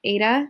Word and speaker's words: Eta: few weird greek letters like ada which is like a long a long e sound use letter h so